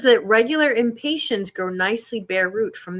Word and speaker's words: Impatiens: Impatiens. I'm impatient. It's not spelled the same way. Impatiens. Impatiens, not impatient.